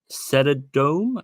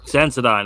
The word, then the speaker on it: Sensodyne: Senodome? Is that how you pronounce it? Senodome? However, do you know what I mean by that? Sensodyne.